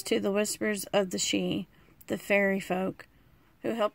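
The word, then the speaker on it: Sidhe: for your past and this is actually pronounced she it's just the Irish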